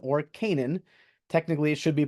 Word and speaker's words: Canaan: Ashkelon, and then over here we actually see Canaan or Canaan. Technically, it should be pronounced Canaan.